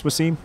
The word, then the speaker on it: Wassim: Wassim is a lot for people to handle sometimes. Yeah. Even though I understand it's not a common name, but it is 2 syllables.